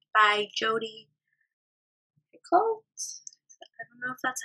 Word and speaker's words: Picoult: for small great things by D by Jodi Picoult that's how you say it but you know